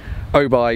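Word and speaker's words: Oubaai: Africa is oh boy I've been pronouncing it who by for the last three years but my South African friend here jason has just corrected me oh by design but O'Neill's some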